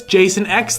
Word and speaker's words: Jason X: Neil says don't miss Jason X though it's hilarious um you're I'm sorry you're actually pronounced that wrong it's Jason aleksander it's not just Jason X you got to say the whole name okay so now here's